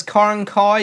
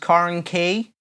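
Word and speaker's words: Carnkie: Rhiannon Smith says Carnkai is usually pronounced Carnkey.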